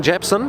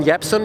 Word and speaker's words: Jebsen: name and introduce yourself my name is Ken japson or Ken yson you spell it right Ken yson then I'm work as